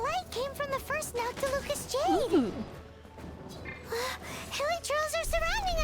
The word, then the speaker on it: Noctilucous Jade: I can't believe it's pronounced Noctilucous Jade. I've been saying Nautilus Jade for like forever. But it's Nautilus?